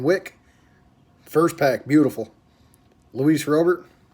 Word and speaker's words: Robert: Luis Robert. I watched a video with his name pronunciation, and it's like Rober. It's different.